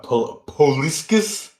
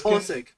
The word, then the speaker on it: Pulisic: I think how do you pronounce it? Poliskis. How do you say it? How do you properly say his name? For who? Christian Poliskis. Pulisic.